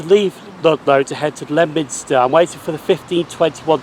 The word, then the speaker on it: Leominster: So we have now reached Leominster station, even though there's an O in it, but the O is silent for some strange reason, I don't know. Because I would have thought it'd be Leominster, but it's Leominster.